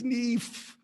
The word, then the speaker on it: Neff: neff i got a is it just neff if it's just neff why are there two e's and two fs how do you pronounce that name is it neef is it niche i'm asking how do you do it oh it's no it's neve okay i love that